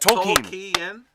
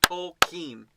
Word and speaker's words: Tolkien: It's Tol with the emphasis T-O-L-L, and the last syllable is keen, as in, I'm keen to meet you. Nice to meet you. So it's not Tolkien? Nope. It's Tolkien. 2 syllables.